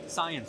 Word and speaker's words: 싸이언: Now, am I pronouncing this right? Is it can or can? It's cyan.